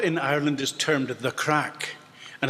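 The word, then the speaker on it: craic: to bring what in Ireland is termed the crack. And it's spelled C-R-A-C-K, and it's a Scottish word, and it has nothing to do with drug taking.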